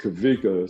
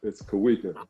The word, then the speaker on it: Kawika: my family called me kawika growing up and uh and I don't know why but it's pronounced kavika so when I have